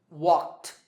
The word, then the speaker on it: walked: In number one, the last sound is C, which is unvoiced. So the ed ending is pronounced T. Walked.